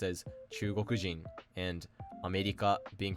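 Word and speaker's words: 中国人: of the country was, such as Chugoku being pronounced as Chugokujin, and America being pronounced as Amerikajin.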